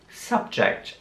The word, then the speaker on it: subject: Subject. Hier wird das U wieder wie ein A ausgesprochen.